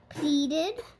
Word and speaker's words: pleaded: want a ple ple E A makes a long e sound pleaded you know what pleading